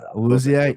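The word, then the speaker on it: Awuzie: I did have the pronunciation BP ready to go. Uwuzie.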